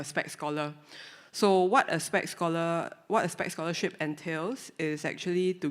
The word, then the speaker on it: SPEX: Being an athlete in Singapore, we actually have this thing called the SPEC scholarship. It's spelled as SPEX. SP stands for sports and EX stands for excellence. So together it's called the SPEC scholarship.